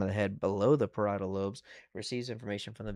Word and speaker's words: parietal: Y'all keep getting this wrong and you can't pronounce it to save your lives. Parietal loes. Y'all are like the parishial, bro.